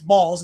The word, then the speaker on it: Bowles: room, like one guy, Jacob Bowles, but he says it's Balls. It's pronounced Jacob's Bowles, as the one cop corrects.